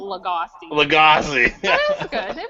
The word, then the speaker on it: Lagasse: Emerald Lugosi. You know what? I think you got it. I think you might have pronounced it a little bit hairy, but it's Emerald Lagasse.